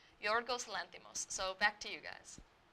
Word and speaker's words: Yorgos Lanthimos: Yes, so his name pronunciation is Yorgos Lanthimos. His name is Greek, and he's a Greek film director, so it's a little harder to pronounce, but I listened to a pronunciation, and it's Yorgos Lanthimos.